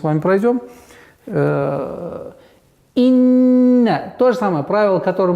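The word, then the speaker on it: إِنَّ: Инна. То же самое правило, которое мы говорили с вами. Если слово начинается с хамзы, и в особенности если касра, то нужно максимально четко, ясно произносить касру. И инна.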